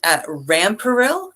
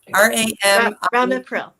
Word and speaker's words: Ramipril: And they are taking Rampril, Ramipril. Yes. So see, you even know the mispronunciation and where to go.